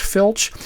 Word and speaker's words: FLC: airspeed mode or flc flc is pronounced filch phillips is just a